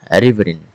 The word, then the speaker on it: riverine: Riverine. There is Oh, sorry. Let's pronounce this word again. We pronounce it riverine.